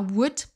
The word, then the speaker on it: would: Passons maintenant à would. Là aussi, on ne prononce pas le L.